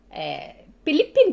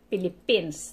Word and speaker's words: Philippines: Philippine yun na. Unlike kung tuwa ka sa kanang, like, in Makati, kung sa kuwan pa, mostly mga tao pronounce talagang Philippines, talagang may S.